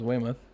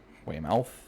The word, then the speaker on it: Weymouth: then the others knew this Weymouth Weymouth way mouth so I would want to say it everybody starts screaming bloody murder mouth yeah now my